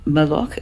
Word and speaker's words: mal'occhio: Now, I am pronouncing it with a Sicilian dialect. That is where my family's from. Other parts of Italy, they're going to pronounce it differently.